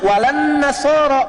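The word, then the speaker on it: وَلَا النَّصَارَىٰ: Cuman kita bacanya pakai e kan alif lamnya syamsiyah tuh ya. Lamnya masuk ke nun. Walan nasara.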